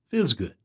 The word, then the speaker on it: FSGD: have for our employees fsgd stands for frequent small good and decoupled which we affectionately pronounced fizz good fizz good became our